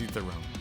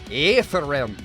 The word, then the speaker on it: Aether Realm: You know, it's like the silent A. So I just go with like a Scottish pronunciation, like Aether Realm.